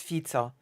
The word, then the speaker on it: Fico: Apparently it's not Fico, it's Fico. Apparently it's actually Fico. That's how I heard the name pronounced on the Polish media.